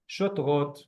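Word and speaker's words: שוטרות: Vav, the dot above, cholam, making it an o, like Oregon. Remember Oregon? Sho, okay, sho. Tet with the two dots, so no vowel. Shot, shot. Resh, again, vav, cholam, so shotro. And then taf, shotrot, shotrot.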